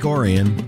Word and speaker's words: Orion: book to the untrained I orian is spelled exactly like Orion but folks from the town of Lake orian know better that debut and the